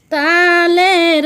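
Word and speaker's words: ط: ত উচ্চারণ কেমন হবে? ত জিহ্বার আগা থেকে মোটাভাবে আদায় হবে, নইলে তা অক্ষর আদায় হয়ে পড়া হারাম হয়ে যাবে।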